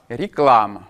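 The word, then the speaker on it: реклама: L'accentonique vient sur la deuxième syllabe, ce qui fait que on va avoir des modifications de prononciation sur les syllabes que l'on appelle aton, c'est-à-dire non accentué. Et on va voir un a qui ne va pas être prononcé pleinement a, mais qui va s'orienter plutôt vers quelque chose comme un e.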